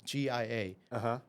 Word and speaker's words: Gia: I was like, my name is Gia, G-I-A. Or Americans pronounce it Gia, the Russian way.